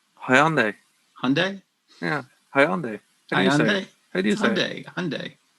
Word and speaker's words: Hyundai: hope those cars actually work unlikely can you pronounce that again for me the that car manufacturer's name hyundai hyundai yeah hyundai i do aluminium for me